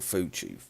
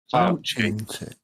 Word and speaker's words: Fauci: Is it Fauci or Fucci? What? Fauci.